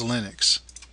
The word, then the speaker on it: Linux: Hello, this is and I pronounce Linux as Linux.